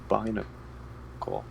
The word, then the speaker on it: Binacle: Yeah, that one I would probably say Binacle, because. Oh yeah, no, that's definitely correct. Yeah. Because Barnacle, bi as in 2.